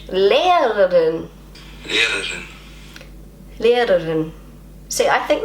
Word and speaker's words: Lehrerin: Lehrerin.